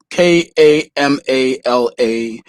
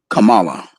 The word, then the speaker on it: Kamala: which country you're from k-a-m-a-l-a is pronounced differently right so if you're from like pakistan it's kamala if you're from india it's kamala let me see here